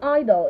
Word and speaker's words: idle: Both words are pronounced idol. Idol. Idol. All right, let's make sentences with them. The lockdown has made everyone idle.